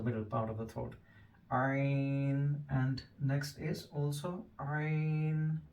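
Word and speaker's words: ع: is the same next Iron make sure you pronounce iron from the throat hell and from the middle part of the throat iron and next is also Irene and this is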